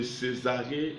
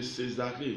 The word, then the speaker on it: Césarée: Plus tard, l'église de Césarée devient son église locale. Philippe était engagé dans l'église locale de Jérusalem. Plus tard, l'église de Césarée, C et accent aigu, S A R et accent aigu E muet.